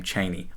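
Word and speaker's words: Chani: all my heart but i will never pronounce her name cheney oh my gosh everyone i love that everyone just decided he was wrong you know every single media adaptation ever has just called her charney and not cheney anyway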